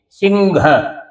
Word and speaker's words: सिंह: उससे आगे है तो इसको हम न जैसा बोल के और है को घ जैसा बोल के सिंघ सिंह सिंह ह को घ बना देते हैं। है का घ बन जाता है। सिंघ ऐसा उच्चारण किया जाएगा।